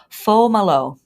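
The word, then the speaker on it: Fomalhaut: l h a u t but it is pronounced falo and this name derives from an Arabic word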